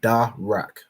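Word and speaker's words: דרך: r and a car the da is separate and you'll know that by this um this Arch and signifying that this letter is pronounced separately so da and then the r and the car are joined signified by this upside down Arch joining these two letters together to make rack so da Rak and that word means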